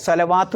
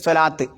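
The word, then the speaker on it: صلاة: വാവ് ഉച്ചരിക്കരുത്, സ്വലവാത്ത് എന്ന് ഉച്ചരിക്കരുത്, സ്വലാത്ത്.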